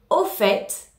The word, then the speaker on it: au fait: au quotidien en français attention à la différence de prononciation au fait le à l udd leçon aux et en en fait on prononce bien le thé dans les deux cas au fait au fait en l'utilisant